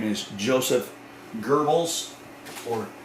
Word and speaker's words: Goebbels: his name is joseph goebbels or gobbles i know there's not an r in there but that's how you pronounce it this is joseph goebbels